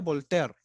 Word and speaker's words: Voltaire: Empezamos con, por ejemplo, con Voltaire, escrito como Voltaire. ¿Ya? Cuidado con eso. Pero se pronuncia Voltaire.